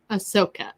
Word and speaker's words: Ahsoka: Am I saying it right? Ahsoka? Ahsoka. Yes.